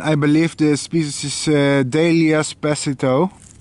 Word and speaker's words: Delias pasithoe: And I believe this species is Delias pasithoe. Or I should say Delias pasithoe. It's a better Latin pronunciation, I think.